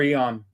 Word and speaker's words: Aeon: So is it pronounced Aeon or Eon? Is it Aeon or Eon? It's I believe it's actually Aeon. Okay. Just wondering. Either one works.